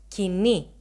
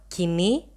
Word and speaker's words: Koine: of Bible was written in modern Greek we pronounce it as kini but in my previous